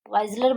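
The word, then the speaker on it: Wissler: Clark Weisler बोलो या विजलर बोलो, whatever you can pronounce.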